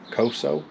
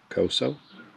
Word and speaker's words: Koso: piece as i said i think it's pronounced coso this is the one